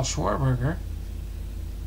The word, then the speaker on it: Schwarber: it's probably schwarber huh how do you say it schwarber it's prob schwarberg schwarber yeah schwarber I always pronounce it wrong don't always love when he pronounces it schwarberg it wouldn't be Uncle